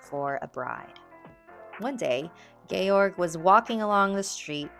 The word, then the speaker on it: Georg: Is it pronounced Georg when it's George with no E? Georg. We're going to say Georg. I hope that's right.